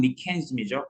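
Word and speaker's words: mechanism: 참고로 메커니즘이라고 하는 것이 뭐냐면은 그러니까 원래 발음은 미케니즘이죠.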